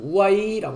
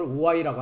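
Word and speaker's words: οὐαί: 금방도 화라는 것은 우아이라고 합니다. 우아이. 헬라어로 어 번역을 우와이라고 하는데요. 여기서 보시면 화 우아이라고 발음을 합니다.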